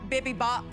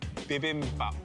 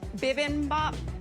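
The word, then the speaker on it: bibimbap: of humor about it sorry can you tell me how to say it correctly bibin bop bibin bop yeah bibm Bop I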